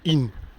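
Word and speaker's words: Isnes: À In. Ça s'écrit Isne, mais c'est pas Isne, c'est In. Voilà. C'est comme Rhin, ça s'écrit Rizn. Mais c'est pas Rizn, c'est Rhin.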